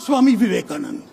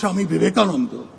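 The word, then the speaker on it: Swami Vivekananda: Many spoke at length about Swami Viveanandan. Of course, he got one thing wrong. It is pronounced Shami Vive.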